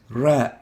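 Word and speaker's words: راء: gum letter and the name we give for this letter is ra as in run ra the next letter is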